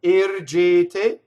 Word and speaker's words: ergete: So it's A. All 3 of those E's should be equal. They're all A vowel, right? You don't want to say air. Doesn't want to rhyme with hair in English, or chair, right?